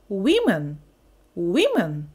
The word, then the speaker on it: women: Наголошую на тому, що у слові woman ще змінюється і потім вимова цього слова. Одна – a woman, а багато – women. Women – women.